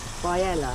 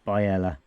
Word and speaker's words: Biella: We are filling up with fresh water and emptying our grey waste in a place called Biella. That's how we're pronouncing it.